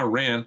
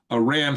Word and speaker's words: Iran: But Iran has uh I call them Iran not Iran. Iran has their which is correct way to say it because that's the derivative of of Aryan by the way.